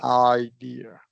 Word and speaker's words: idea: Yeah, because remember that long I starts with a short O before. So it's a lot of jaw movement. I idea.